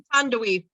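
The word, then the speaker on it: Thandiwe: I don't want to say Thandie Newton, but that's not how you pronounce her name, is it? It's Thandaway.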